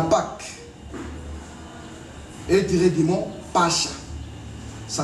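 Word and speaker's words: Pascha: En hébreu, la Pâque est tirée du mot Pacha. Ça s'écrit la lettre P, la lettre A, la lettre S, la lettre C et la lettre H.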